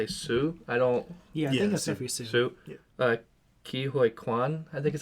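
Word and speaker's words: Ke Huy Quan: Ki Hoi Kwan, I think is how you say it.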